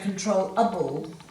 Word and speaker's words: controllable: double that l because the emphasis or the accent is on the second syllable and that o changes from a long o sound to a short o sound because of that so you're going to say control a ball so you're dropping that vowel sound to a shorter one now let's look at